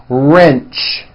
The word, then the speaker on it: wrench: are sound at the beginning of that word wrench coach approach also with a strong are sound